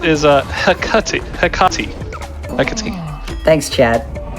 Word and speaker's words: Hecate: But also, Hecat is Hecate. Thanks, Chad. Hecate. Really? Yeah, Hecate Yeah, is how they're they're going pronounced.